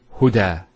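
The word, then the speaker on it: هدى: Now this is not actually a ya, it's an alif. It's called an alif maqsura, and it's exactly like an alif, the way it's pronounced. It's like a ya, without the 2 dots. So we say huda.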